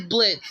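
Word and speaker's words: Blitzø: So, even though the name is Blitz, the O is silent.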